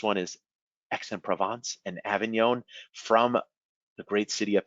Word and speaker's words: Avignon: different perfumes nearby is avignon the g is silent another great area so